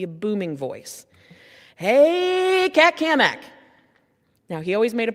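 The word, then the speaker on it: Cammack: Hey, Cat Kamak. Now, he always made a point to say my name right. and he put an emphasis on the Mac because he was always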